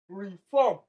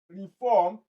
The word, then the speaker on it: reform: You have intact, obscure, phantom, reform. So for option D, reform, reform. The second syllable is the one that has the stress pattern.